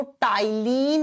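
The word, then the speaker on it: ptyalin: एक नाम होता है इसको टाइलिन अमाइज भी कहते हैं अब आप कहोगे आपने तो पी से लिखा है पी प्रोनाउंस के समय साइलेंट हो जाता है आप कहोगे हिंदी में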